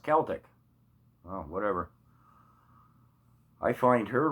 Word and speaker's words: Celtic: My friend keeps admonishing me, it's pronounced Celtic.